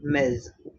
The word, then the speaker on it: Ms: The pronunciation is going to be miz.